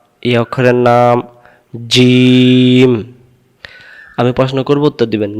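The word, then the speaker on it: ج: তা এই অক্ষরের নাম জিম আমি প্রশ্ন করবো উত্তর দিবেন জিম অক্ষর কেমন করে পড়তে হয় জিম অক্ষর জিহ্বার মাঝখান থেকে শক্ত করে পড়তে হয় উচ্চারণ যাই জের জবর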